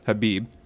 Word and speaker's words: Khabib: how do you say, Khabib or Habib? Habib jumped the fence. The K is silent.